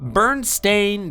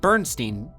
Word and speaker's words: Berenstain: While many people distinctly remember the name spelled Berenstein, pronounced Steen, the actual name of both bears in the authors is Berenstain, pronounced as it would be Stain.